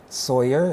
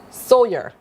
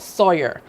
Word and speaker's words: Sawyer: Sawyer, as in do, re, mi, fa, so. Sawyer. Sawyer. Yes, please. So not Sawyer. Sawyer.